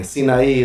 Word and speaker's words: Zinay: The first name is Zinay, like Mount Sinai, but it's spelled different.